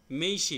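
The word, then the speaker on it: 名刺: diary হ্যাঁ notebook পকেটে রাখা নিয়োব এরপর হলো মেইশি ভিজিটিং কার্ড উচ্চারণটা একটু বলবেন এটা হচ্ছে তেঁচো উচ্চারণটা তেচ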